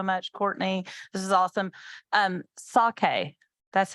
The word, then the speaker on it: sake: Sake. That's how you pronounce.